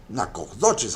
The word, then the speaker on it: Nacogdoches: Nacogdoches, así se se pronuncia la ciudad.